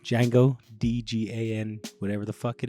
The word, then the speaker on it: Django: I was like, and then we'll do like Django where the D is silent, Django, DGAN, whatever the fuck it is.